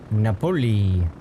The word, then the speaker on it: Napoli: Napoli. Like Napoleon? No, that's not how you Rhymes say with- it. I know you're probably saying that as like the joke, but that's not how you say it, you know.